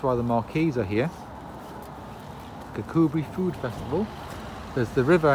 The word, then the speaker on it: Kirkcudbright: So we are in Kirkcudbright, which is spelled Kirkcudbright, but Kirkcudbright.